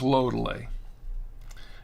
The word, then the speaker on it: Lodole: It's pronounced Lodole.